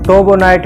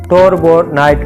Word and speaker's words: torbernite: इसकी प्रोनाउंसिएशन दो किस्म की है, कुछ लोग इसको टोबोनाइट भी बोलते हैं और कुछ लोग इसको टोरबोनाइट भी बोलते हैं।